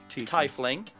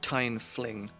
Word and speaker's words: tiefling: you say the word tie fling it's tiefling how do you say this it's time how do you say this fling I rest my case but it's not tying fling it's teeth and Ling the teeth teeth I